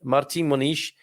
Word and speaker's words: Martim Moniz: is okay so marti you're going to pronounce the m as an n and you're going to pronounce the dead i'm going to go with martin monish and there is a